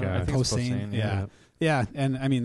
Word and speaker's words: Posehn: I can never say his name right, but comedian, really tall guy, Brian was it Posehn? Oh, yeah, Posehn. Yeah, Posehn, yeah.